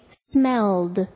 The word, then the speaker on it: smelled: What do you hear when I say smelled, as in it smelled bad? The ed verb ending sounds like a d.